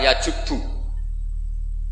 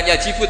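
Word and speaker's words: يجبّ: Itu bacanya bukan yajibu tapi apa? Yajubbu a yaqt lah. Kalau pas ini kamu baca yajibu kan alislamu te Islam yajibu pusing kamu.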